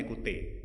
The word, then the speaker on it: Ecoutez: jadi jadi memang e kalau dilihat dari tulisannya mungkin ee susah bacanya cuman enggak sebenar bacanya ekute jadi di album pertama